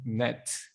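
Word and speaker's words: 넷: Some people say it's just like net, but you don't need Net. to sound like a t pronunciation. You can just say net.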